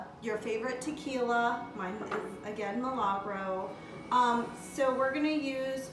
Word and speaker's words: Milagro: me on to this tequila I think it's pronounced Milagro this is a really smooth tequila we all